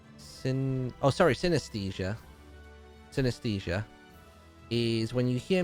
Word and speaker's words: synesthesia: What's synthesia? Synthesia. How do you spell it again? Synesthesia.